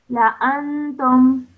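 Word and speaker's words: لَأَنتُمْ: So after the first lam, over here, the Alif has a cross, so this is an Alif Zaida, okay? And that means we do not pronounce it when we are reading, so we pronounce it like this.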